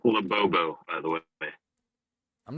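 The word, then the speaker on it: Labubu: It's pronounced Labobbo, by the way.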